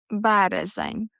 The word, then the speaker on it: березень: March, березень.